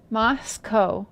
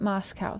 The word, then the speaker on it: Moscow: It's pronounced Moscow, not Moscow.